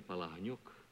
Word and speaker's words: Palahniuk: Actually, my name is Vladimir Palahniuk, but... why didn't you tell me? I pronounce it Jack Palance. Palance. Mm-hmm. How did you happen to pick that name? Jack Palance? Yeah. Oh, it was sort of one of those things, Palahniuk. Nobody could pronounce it. They said, we'll call you Palansky, and from Palansky I took Palance. But the name is Palahniuk.